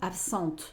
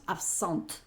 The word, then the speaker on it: absente: Y entonces diríamos absent. Entonces sí la pronunciamos, sí se escucha.